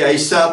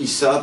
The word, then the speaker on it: Aïssa: Alors, je dis Aïssa parce que, bon, certains prononcent Issa, parce que Issa, en